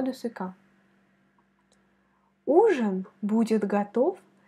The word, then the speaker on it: готов: Quand tu vois la consonne V à la fin des mots, il faut la prononcer comme F, F, F. Tu vois ma bouche? Prononce comme moi, F, F. Готов, готов, готов.